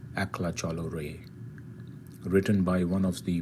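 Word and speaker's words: Ekla Chalo Re: for doing this and the pronunciation of the song is akla cholorae doing a rendition of a song in bengali called akhla chalo ray written by one of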